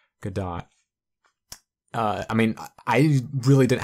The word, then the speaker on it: Gadot: know the actual pronounce I think it's good die people say Godot Godot is not correct it's good dot I mean I really